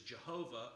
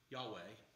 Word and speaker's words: Yahweh: And our old-fashioned rendering of it is Jehovah, or if you use the Y, Yahweh, is us putting the vowel sounds in there so it's actually pronounceable. I mean, you really can't pronounce a word that's a string of consonants with no vowels.